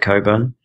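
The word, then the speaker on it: Cockburn: very clever guy called alist Coburn it's not pronounced the way it's written uh anyway sorry that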